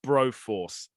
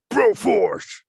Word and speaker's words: Broforce: So today we've covered It Takes Two, Mike Tysons Punchout, and Broforce. You said it wrong again. Oh, fuck me. Broforce.